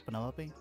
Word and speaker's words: Penelope: Is that short for Penelope? Officially, yes, but I never can be bothered with all four syllables of it.